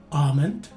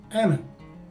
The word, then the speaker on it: almond: The letter O for both variations take a schwa sounding letter E. So this word is pronounced as either almond or almond.